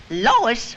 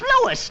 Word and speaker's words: Lois: Lois? Me name is Lois, not Lois. Gee whiz, everybody interpolates me name wrong. It's Lois.